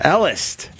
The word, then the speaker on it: Elist: you say your last name Dr Ellis Ellis yeah very cool spell it e l i we were uh we